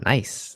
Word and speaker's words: Nice: I saw nice, and I was like, what the hell, nice? Nice France. What's nice France? But apparently it's Nice.